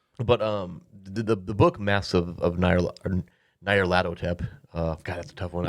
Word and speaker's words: Nyarlathotep: release I think one is called Masks of Nyarlathotep or Nyarlathotep, I think is what because they have their